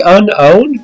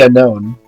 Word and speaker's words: Unown: I'm pretty sure they just say unknown. Well, they're probably wrong because it's spelled unown, and I will never stop pronouncing it like that.